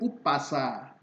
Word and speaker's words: Umpasa: Umpasa harus dibaca sebagai upasa. Karena huruf M di belakang U harus diganti P.